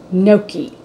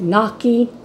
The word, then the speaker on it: gnocchi: guys tonight I'm 15 nokey some people call it no key some people call it knocking however you pronounce it it's one of